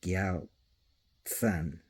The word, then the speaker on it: Gyaltsen: So yeah, the R is kind of silent. The M is kind of silent, so it's Gyaltsen, that it's pronounced sen, like that.